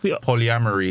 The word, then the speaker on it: polyamory: maybe polygamy is marriage like marri multiple people polyamory is you just have multiple partners okay so